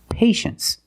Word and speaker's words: patience: Well, you see T-I-E in the second syllable. You know the T is pronounced sh. So this word is patience.